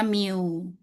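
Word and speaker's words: μ: Rata-rata simbolnya mu nih bacanya meu gitu.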